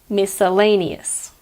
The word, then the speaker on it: miscellaneous: fit into other categories I'll say it slowly me sir Leigh nee s miscellaneous the American pronunciation is